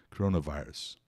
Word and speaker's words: coronavirus: Live anterior Corona Corona esse segundo o aí primeiro ó é o som do chuá C C um um uma vogal assim um a meio com a boca aberta né sílaba sílaba atona em inglês uma vogal ato em inglês geralmente vai ser o chua então é aí é o segundo o é ou Corona Corona coronavirus e ent já vimos